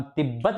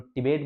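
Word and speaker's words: Tibet: इसलिए टिट बोलते इसको हमारा प्रोनाउंस गलत है इसलिए हम स्पेलिंग भी गलत लिखते हैं हम तिब्बत बोलते हैं इसलिए टी I double B ए टी लिख देते हैं तिबेट बोलते हैं हा चलो ठीक है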